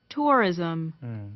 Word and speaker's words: tourism: 그러니까 자, 이렇게 R 다음에 모음이 오잖아요. 이때 영국 사람 발음도 마찬가지예요. R 사운드가 없을 수가 없어요. 그죠? 다음에 모음과 연계되면 rhythm이라고 발음해야 되니까 R 사운드가 자연스럽게 나게 되어 있습니다.